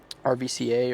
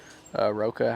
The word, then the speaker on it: RVCA: Here's the RVCA or Roca, however you want to pronounce it.